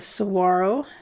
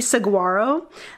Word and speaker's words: saguaro: always pronouncing the G Saguaro that's not how that's not how to say it and and then I think I got it wrong when I was trying to make the G silent and I was still